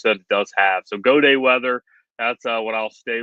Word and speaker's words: Gaudet: I'm Gaudet Weather, and it's Gaudet, again, French, spelled like Gaudet, but it is Gaudet Weather.